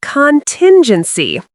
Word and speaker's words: contingency: Say contingency with stress on the second syllable, tin.